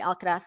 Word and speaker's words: Alcaraz: stanley has been why do i say alcatraz because uh well i speak spanish but i speak spanish from spain rather than south america so i can't help it i have to say